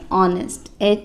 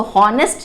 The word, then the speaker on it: honest: अब इसमें H है तो H साइलेंट होता है। H को हम इसको हॉनेस्ट नहीं पढ़ेंगे, हम क्या पढ़ेंगे? ऑनेस्ट। H जो है उसको साइलेंट है, उसको प्रोनाउंस नहीं करना है, सिर्फ ऑनेस्ट।